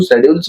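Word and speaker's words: schedules: स्ेड्यूल्स means होता है आपके अनुसूचियां। वैसे तो इसको शेड्यूल्स पढ़ते हैं कई लोग लेकिन उच्चारण की दृष्टि से देखा जाए तो स्ेड्यूल्स बोला जाता है यानी कि अनुसूचियां।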